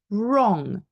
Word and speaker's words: wrong: they're all silent use we have a silent um w at the beginning of the word followed by an R so wrong you are either right or you're wrong um to write as we